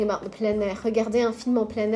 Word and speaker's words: plein air: So normally you only say you would say plein by itself. But because there's a vowel afterwards, you say plein. Plein air.